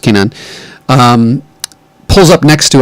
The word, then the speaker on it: Kanan: is why I we're adjusting to the series pronounced Kanan um pulls up next to him and says